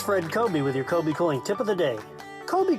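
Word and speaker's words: Kobie Cooling: It's Fred Kobe with your Kobe Cooling tip of the day. Kobe Cooling has been around a very long time. It's spelled kind of funny, too.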